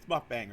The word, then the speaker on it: mukbang: watched some of those mukbang channels, mukbang, it's mukbang, right?